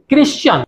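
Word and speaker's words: Christian: इसके एक्सेप्शंस ये हैं कि इसमें अगर TIAN के पहले एस आ जाता है तो उसका प्रोनाउंसिएशन शन न होकर के चन होगा। जैसे ये सब सही बोलते हैं, क्रिश्चियन, लेकिन इसी तरीके से फ्रस्शन, फर्शन, तो ये चन होगा।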